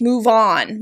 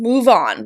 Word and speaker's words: move on: on first it's pronounced move on move on with stress on the particle on move on move on